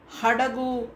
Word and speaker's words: ಹಡಗು: ಹೇಳಲ್ಲ ಅವಳು ಅಂತ ಹೇಳಬೇಕು ಹಾಗೆ ಹಡಗು ಅಂತ ಹೇಳಬೇಕು ಅಡಗು ಬೇರೆ ಬೇರೆ ಅರ್ಥ ಕೊಡುತ್ತೆ ಅಲ್ವಾ ಅದಕ್ಕೆ ಈ ಅಕ್ಷರ ಅಕ್ಷರಗಳನ್ನು